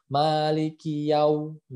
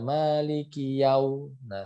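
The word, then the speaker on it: مَالِكِ يَوْمِ الدِّينِ: baunya suwun jadi dia lain gitu ya jadi bacanya Malikiyaumiddin ah Malikiyaumiddin seperti itu kemudian disini adalah huruf Dal yang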